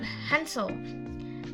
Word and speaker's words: Hansel: For the next we have Hansel. Hansel is H sound, so we pronounce H in the Hansel, not like hour, like hour. We pronounce hour, no, but Hansel, we pronounce the H, Hansel.